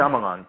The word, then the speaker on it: Shyamalan: However, this particular movie, I drew on a movie by oh my God, I'm gonna botch the pronunciation of his name. M. Night Shyamalan. Is that correct? Shyamalan.